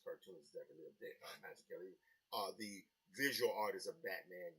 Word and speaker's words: Mazzucchelli: Done one with Lorenzo Matodi, Dave Mazzucchelli, I believe is how it's pronounced, who I think is one of the greatest cartoonists that ever lived, Dave Mazzucchelli.